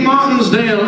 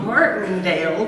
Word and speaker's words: Martindale: Elizabeth Moon, Lee Martinsdale, and Elizabeth Ann Scarborough. You can't pronounce the English stuff. I'm not supposed to pronounce English stuff. Martindale does not have an S in it.